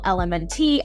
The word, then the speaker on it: LMNT: electrolytes and funny thing I kept calling them Elemental element I seriously could not pronounce this but I've got it down now